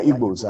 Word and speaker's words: Igbo: begin with you is ibo presidency long overdue presidency not evil the white man could not pronounce the g people so he changed it to ibab so we are igbos and multiples having said